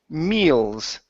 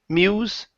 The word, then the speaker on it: meals: one is the word meals okay focusing on the l okay so instead of Mew Mews use your tongue meal meals meals good good all right so